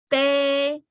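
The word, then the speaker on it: peb: E is a, and then you put the vowel into the consonant and the tone and go be, P-E-B is be, which is translation of that is 3.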